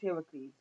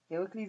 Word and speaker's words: Heracles: It's pronounced Heracles. Hercules. That's Latin. Heracles is the Greek.